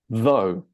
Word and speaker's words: though: And this OUGH here is just pronounced like the English letter O. So this is pronounced though, okay?